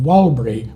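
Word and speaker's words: Warlpiri: causes some problems like walbury is written with p's T's and K's but the actual name of the language is pronounced Wildberry with a B sound and the same happens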